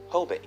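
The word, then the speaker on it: Jobe: local native american tribe called hobe spelled with a j their name is of the origin of modern day hobe sound florida spelled with an h they were soon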